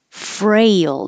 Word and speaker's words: frail: it feel to fail frail means weak so it's exactly exactly the same as 23 fail but with an R so you start with your tongue curled back in the r position frail and that's where we